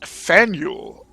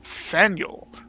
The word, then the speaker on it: Faneuil: Boston wonderful place and don't let the French spelling confuse you the name of this building is pronounced Fanueil or Fanueil and no fan no